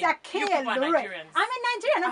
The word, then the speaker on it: Akinyelure: Even in BBC, I'm not going to pronounce the name. It's Akinyelure.